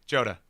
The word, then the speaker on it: Joda: Joda got it sorry I've been pronouncing it like uh I mean I made the Assumption it was a Spanish name in which case the J would be an H sound I'm sorry Joda got